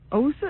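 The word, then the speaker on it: Åsa: Well, we're all No, no, no, no, no. It's osa. Oi. It's spelled Well, it's spelled with an a and then a little circle on top.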